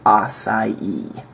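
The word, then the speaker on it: açaí: promoted recently which is acai and that's the correct pronunciation every now and then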